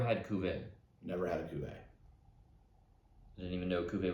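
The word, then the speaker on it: Cuvée: kuvin never had a Cuvee I didn't even know Coupe was a thing that's why I'd look it up and make sure we're not proud We Are pronouncing it correctly not QV or something maybe super fancy the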